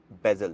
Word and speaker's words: Vezel: pronounce करते हैं वेजल कई लोग इस गाड़ी को प्रोनाउंस करते हैं जजल अब एक क्वेश्चन आपके माइंड में जरूर आ रहा होगा कि भाई एक्चुअल में इस गाड़ी की प्रोनाउंस है क्या तो बेसिकली यह गाड़ी इसका जो नाम है यह निकला है बेजल से इस गाड़ी का नाम जो था एगजैक्टली बेजल से निकला है लफ्स बेजल जो है